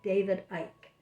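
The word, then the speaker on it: Icke: from each other and david ich said or ike somebody told me that's how reminds rhymes with mike somebody told me david ike and david ike has a lot of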